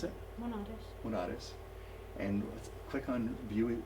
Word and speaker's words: Monares: How do you pronounce it? Monares.